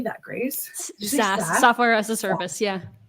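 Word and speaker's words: SaaS: s AAS how do you say that Grace SAS software as a service yeah SAS I knew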